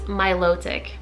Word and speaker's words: Milotic: one of my previous videos I called it Milotic apparently it's Milotic like Milotic so you know everybody has a different way to pronounce all these names but guys keep your